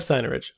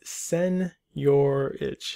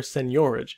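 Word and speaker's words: seigniorage: rest of your day it's not cyano rich i had to look it up it's sen your itch seniority because you can pronounce it with the sen first sen your age or senorage it's up to you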